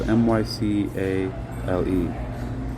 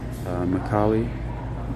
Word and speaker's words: Mycale: So here's the best offense, and it's Mycale, or Mycale. It's spelled Mycale. Mycale. I'll pronounce it Mycale. I like that pronunciation of it, Mycale.